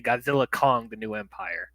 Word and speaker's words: Godzilla x Kong: the director has said you're not supposed to say the X it's just Godzilla Kong new Empire yeah I